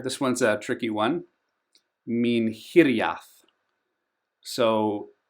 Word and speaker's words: Minhiriath: Minhiriath. So, the stress often lands on the third last syllable, but sometimes the second last. That's typically what happens in Sindarin. So, Minhiriath.